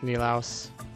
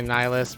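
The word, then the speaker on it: Nilaus: to butcher your name I think he pronounces it nilos I sometimes Say nyus by mistake but it's nilos I think that's how he pronounces it when he says his own name on his videos anyway those guys are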